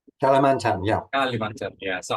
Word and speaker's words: Kalimantan: Did I pronounce it right? Kalimantan, yeah.